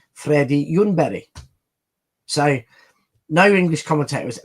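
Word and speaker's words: Ljungberg: Now, no one in, you know, in the Nordics has heard of him because it's Freddy Yunbury.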